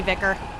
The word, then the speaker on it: Vicar: It might be Vicker. I was pronouncing it pronouncing it as fly car because of vicarious.